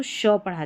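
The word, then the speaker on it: ship: शिप, शॉप, इसको सिप, सॉप नहीं पढ़ना है, शिप, शॉप।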